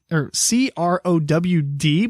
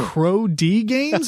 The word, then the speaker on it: CrowD Games: Ironically enough, it's not ironically, but it's spelled CROD or CROWD, but the D is capital. So Crow D Games or Crowd Games? Crow D.